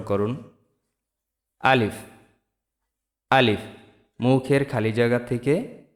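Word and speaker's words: ألف: তো শুরুতে আসি আলিফ মুখের খালি জায়গা হইতে উচ্চারিত হয়। আমার সাথে সাথে উচ্চারণ করুন। আলিফ।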